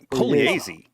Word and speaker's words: Pugliese: The GLI in Italian is pronounced kind of like a Y, like a Y sound.